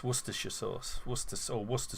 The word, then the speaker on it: Worcestershire: you pronounce it i i've heard some people pronounce it warcestershire sauce and it's it's worcestershire sauce what's this or worcester sauce yeah and